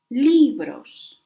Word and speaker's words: libros: If the word ends in S, N, or in a vowel, the stress goes in the penultimate syllable. Libros.